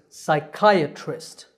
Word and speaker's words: psychiatrist: starts with psy the P is silent the part in the middle is kyuh kyuh and the word ends with twist the stress is on the second server so this word is psychiatrist psychic next we have